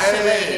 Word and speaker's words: Rochele': So it's Rochele. like Rochele. It's my middle name, actually. Rochele. So, yeah. How do you spell that?